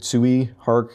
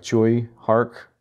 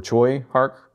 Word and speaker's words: Tsui Hark: thank you, Mitch, but I think I said Tsui Hark, and it's more like Choi Hark, or Choi Hark.